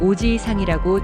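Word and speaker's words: おじいさん: 이 단어는 오지이상이라고 지 뒤에 이를 길게 늘려서 발음합니다. 이때 지이는 두 박자처럼 발음되어야 합니다.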